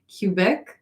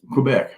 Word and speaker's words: Quebec: old Canada cuc how do you say that cubec Quebec yeah Sagittarius six months single now and my